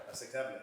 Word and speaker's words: aceptable: Aceptable. Aceptable. Excelente. Aceptable. So the A is always pronounced like at the dentist. With a big mouth.